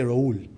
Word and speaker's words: Raul: the Arab world, right, they don't say Rahul, they say Raul. That's how they pronounce it. So the H is silent, right?